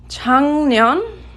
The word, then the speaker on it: 작년: And notice how it's pronounced. 작년.